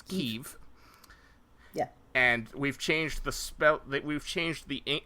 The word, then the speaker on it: Kyiv: But I believe the local pronunciation of the capital of Ukraine is Kyiv.